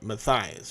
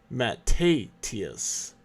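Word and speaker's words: Mattathias: Now, I've always said this name wrong. I was calling this guy Matthias, but this is not Matthias. Matthias is in the Bible, but this is Matthatius.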